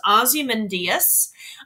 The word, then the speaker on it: Ozymandias: It's pronounced Ozymandias.